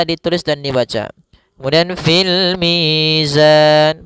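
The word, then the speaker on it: الْمِيزَانِ: Dan pada lafal mi ada bacaan mad th'i kembali yaitu adanya ya sukun didahului dengan huruf berharakat kasrah panjangnya dua harakat. Kemudian pada lafal zan ada bacaan kembali yaitu mad arid lukun. Panjangnya boleh kita panjangkan dua harakat, boleh empat harakat dan boleh pula enam harakat.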